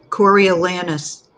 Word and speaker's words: Coriolanus: I don't even know how to pronounce that. Coriolanus.